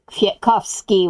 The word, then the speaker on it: Kwiatkowski: And women's last names were pronounced with an A on the end as opposed to men's, which ended in an I.